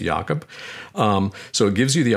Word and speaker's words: Jacob: Mine's spelled Jacob, but I pronounce it Jakob.